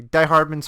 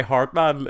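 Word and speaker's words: Die-Hardman: I heard people call him Die Hardman in the game. There's less... is this another thing about the game that's confusing? Yeah, weird. He himself uses only 2 syllables. It's Hardman.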